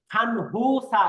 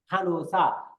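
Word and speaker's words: 간호사: তারপরে ইবনুন নুগুসেয় খানুসা ইমনিদা, এটার উচ্চারণ কিন্তু দেন খানহুসা এরকম না, উচ্চারণ হবে খানুসা, অর্থাৎ নিয়নের পরে হিউত থাকলে এই নিয়নটা হিউতের সাথে মিলে গিয়ে উচ্চারণ হবে খানুসা।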